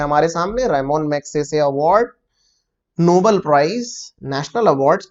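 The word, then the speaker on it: Ramon Magsaysay: सही जवाब है option number A, रेमोन मैग्सेसे award. 2 बातें हैं दोस्तों। पहली बात तो ये कि बहुत से बच्चे इसको रमन मैग्सेसे बोलते हैं।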